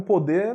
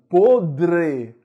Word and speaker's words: podre: Olha, pessoal, pôde é o verbo poder no passado, no pretérito perfeito, certo? Então, recebe acento circunflexo. Por favor, quando você for pronunciar o adjetivo podre, existe um R aí, né? Não é pode, né?